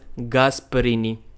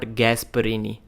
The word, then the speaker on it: Gasparini: I called him Hermes Gasparini, but the surname is pronounced as Gasparini, not Gasparini.